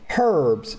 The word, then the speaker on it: herbs: People say, "Oh, the this letter silent." No, you should be silent. Pronounce it the way it's written. Herbs.